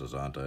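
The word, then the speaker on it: Azcanta: I think it's Azanta. I think the C is silent.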